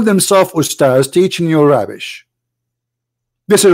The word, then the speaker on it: Ustaz: say the word because the word Ustads is not correct in the way they say it. The word in Arabic is Ustaz, which means a master, teacher. So they call themselves Ustaz, teaching you rubbish.